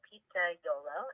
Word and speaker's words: pizzaiolo: So Pizzaiolo is how it's pronounced, is the Italian name for pizza maker,